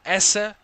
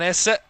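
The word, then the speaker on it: Esse: and a Barry ezer there's a difference it's it's going to be minimal of a difference in the other pronunciation but there is a difference there's an Essa and an ezza I mean fantastic isn't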